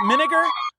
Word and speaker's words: Minegar: Minegar. And did I pronounce that right? Is it Minegar? Yep. Yeah, okay. Like vinegar.